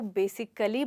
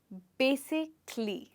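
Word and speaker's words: basically: ज़्यादातर लोग इसको बेसिकली बोलते हैं, जबकि इसमें हमें इस ए को प्रोनाउंस करने की ज़रूरत नहीं होती। अगर आप इस ए को नहीं बोलेंगे तो आप इसको कैसे बोलेंगे? बेसिकली। जी, इस वर्ड को बोला जाता है बेसिकली।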